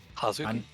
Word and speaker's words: Hazuki: Hazuki.